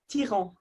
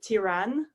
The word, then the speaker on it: Thiran: So don't worry, I don't usually pronounce it like that. In the UK, I kind of go Thiran, which feels easier for people to pronounce.